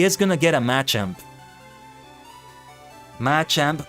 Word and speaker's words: Machamp: matchup match amp Machamp I switch pronunciations of that a lot I just was so used to saying matchup matchup match amp until I start the listening people saying it in English and they started and I realized they started saying in Machop Machoke Machamp which I guess I